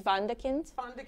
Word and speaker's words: Wunderkind: But I think in German it's Wunderkind.